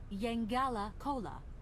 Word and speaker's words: Yangala Cola: The right pronunciation is Yangala Cola.